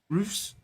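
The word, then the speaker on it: Roefs: How do I pronounce his name? Roofs.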